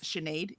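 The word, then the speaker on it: Sinéad: Um like when all of us found out that s i ne a d was shenade, you know, things like that.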